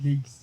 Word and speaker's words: Blaise: Blaze. But But Blazia, it's a it's a French name. It's my middle name. Actually, it's my middle name. It's not it's it's into the future with Blaze.